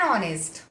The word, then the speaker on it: honest: Here you can see an honest. Honest. H. H it is vowel? No, it is not vowel. But H it is silent word. Honest. Pronunciation sound it comes O, and for that it is an.